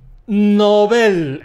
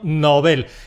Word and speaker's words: Nobel: Te van a dar el Premio… , el Premio Nobel. Esto es un apellido, es el apellido de un señor, de Alfred Nobel, que era sueco.